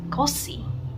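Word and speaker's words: köszi: dan Z, terus I, kosi. Ingat tadi yang saya bilang di awal, S dan Z kalau ketemu itu diucapkan S aja ya, kayak dalam bahasa Indonesia sia-sia ya, jangan zia-zia.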